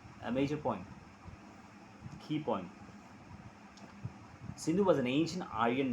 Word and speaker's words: Sindhu: In their language, the S became H.